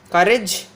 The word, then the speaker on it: courage: That is nothing but, if you take this word courage, courageous, so the syllable that is before this suffix should be stressed. Before that, here we have courage. Courage. Courage. Here the first beginning syllable is stressed.